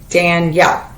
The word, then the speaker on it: Danielle: a word so um in my name Danielle there's two vowel sounds that are heard it's two times that you see my jaw open and close Dan yell the just the D is not a syllable every syllable has to